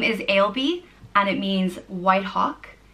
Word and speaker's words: Ailbe: The next name is Ailbe, and it means white hawk. intelligent or noble, and is pronounced Ailbe, or Ailbe, Ailbe. So it can be spelt with or without a H in it, so A-I-L-B-E or A-I-L-B-H-E.